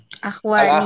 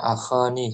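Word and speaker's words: أخوان: Akhwani aku satu saudara laki-laki. Akhwani dua saudara laki-laki. Nah gitu. Bukan bukan akhani tapi akhwani tambahkan huruf apa tuh Om?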